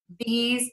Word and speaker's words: these: exceptions no matter what the big words that i hear people mispronounce are those these and because those these cause because those are all pronounced with the z sound at the end yeah and those are